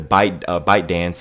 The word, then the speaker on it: ByteDance: Or if the ByteDance, I'm just gonna say ByteDance, I think that's how I say it. It's spelled weird. It's like B-Y-T-E dance.